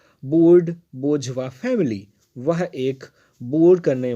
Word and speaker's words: bourgeois: एक बार फिर से प्रोनाउंसिएशन ध्यान से देखेंगे, स्पेलिंग BOURGEOIS है, बट इसका जो प्रोनाउंसिएशन है वो है बोझवा, इसको बोलते हैं बोझवा।